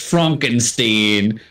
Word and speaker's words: Frankenstein: As he tells him his name is pronounced Frankenstein.